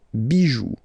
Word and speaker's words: bijoux: Pluriel, des bijoux, okay? Then, un caillou, plural, des cailloux. Okay, remember, you don't pronounce it, the final X.